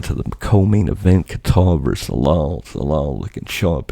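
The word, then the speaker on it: Kattar: decision over Calvin Kar people say Kar I say Qatar look it's spelled like what do you want from me salal gets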